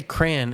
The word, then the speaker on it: crayon: to you yeah yeah I I say cran instead of crayon nobody here would even